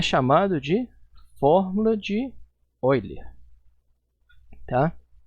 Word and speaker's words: Euler: Escreve Euler e pronuncia Euler.